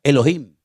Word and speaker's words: Elohim: Y el primer nombre que conocemos de Dios, si empezamos a leer la Biblia desde el principio es un nombre que se pronuncia Elohim.